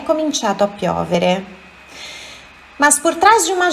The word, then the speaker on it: piovere: A piovere, atenção, olha aqui, é piovere. Sílaba forte, a sílaba tônica é no O, não é piovere, é piovere.